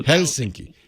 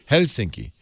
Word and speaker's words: Helsinki: difference is you um you're supposed to emphasize the first syllable so helsinki helsinki all right helsinki i'll say it right